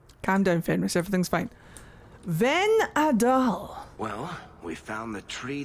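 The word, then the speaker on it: Vhenadahl: See if this Venadal tree can give us any answers. It's pronounced Venadal.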